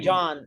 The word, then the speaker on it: Can: But this is the way, John, CAN. Okay. But you can drop John. It doesn't matter because. No, I was also confused because the C you pronounce as J, is it in Turkey?